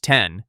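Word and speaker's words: iPhone X: The iPhone 10, pronounced 10 for the iPhone's 10th anniversary, launched November 3, 2017 at $999.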